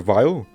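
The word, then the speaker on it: Weil: criminal dr wheel dr vile i'm not sure if it's supposed to be a german pronunciation the former utopia is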